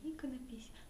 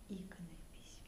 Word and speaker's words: иконопись: всегда в основном произносят иконопись. Но что интересно, ни от одного иконописца я такого повторения не слышала. Они все повально говорят иконопись, да, иконопись, они говорят, как бы с ударением на слове икона.